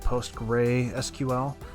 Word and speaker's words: PostgreSQL: also use PostgreSQL we that's how you say it post gray SQL however you want to